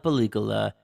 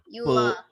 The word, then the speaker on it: película: Bienvenidos a la referencia de la película, aka the movie reference.